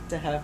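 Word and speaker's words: De Hef: Rose, how do you pronounce this? Dehef. It is just Dehef.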